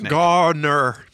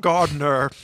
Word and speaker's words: Garner: enough about stuart gardner's garner not gardner don't say it wrong all right give us